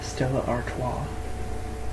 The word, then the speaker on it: Stella Artois: it's a pretty delicious it's Stella Artois that's how you pronounce it I'm sorry I'm an